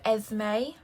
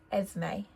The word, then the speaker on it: Esme: Again, we have Esme. I think it's a little bit easier because the S is kind of pronounced like a Z, Esme.